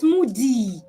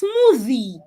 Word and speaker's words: smoothie: saying the DU sound like you're saying the letter D sound take this word for example an a Nan will pronounce this word as smoothie it's not smoothie it's smoothie watch my mouth smoothie the